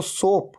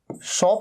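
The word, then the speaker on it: soap: लगा रहे हैं तो सोप, सोप मतलब साबुन। अच्छा, इसे सोप कहना है, सोप, इसे शॉप नहीं कहना है। कई लोग कंफ्यूज हो जाते हैं, प्रोनाउंसिएशन मिस्टेक कर देते हैं।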